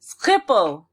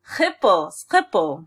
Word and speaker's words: Schiphol: Schiphol. Huh? Schiphol. It's like a guttural. Okay. Schiphol.